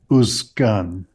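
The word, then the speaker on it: וּזְקַן: So if there were a vav in front of this, it would be pronounced uskan.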